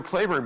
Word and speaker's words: Cleburne: general claiborne now general claiborne by the way his name is spelled exactly like the town of cleburne texas which is named after him but he pronounced his name claiborne and general patrick claiborne